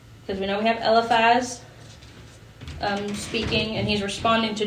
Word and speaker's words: Eliphaz: I'm probably gonna say it wrong, but Eliphaz?